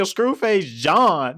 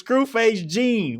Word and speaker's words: Screwface Jean: And at is people screw face who my nigga you saying your own name wrong nigga? Screwface John. Nigga, your name is Screwface Jean.